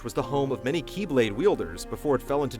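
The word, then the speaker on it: χ-blade: one must possess the Keyblade, which spelled out looks like X-Blade. The letter X represents the Greek symbol for Kai, which in the Kingdom Hearts series is pronounced as Key.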